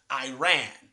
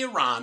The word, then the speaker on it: Iran: For one thing, they consistently mispronounced the name of Haddadi's homeland as Iran. They didn't say Iran, they said Iran.